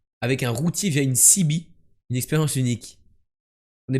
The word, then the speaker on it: CB: à tous en français le sigle CB se prononce cibi à l'anglaise de feu la cibi